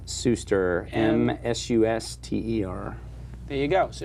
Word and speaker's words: Suster: Did I pronounce it right? Suster, yeah. Suster.